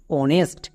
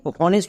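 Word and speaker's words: honest: যেমন অনেস্ট। এখানেও কিন্তু এইচ এর উচ্চারণ হবে না।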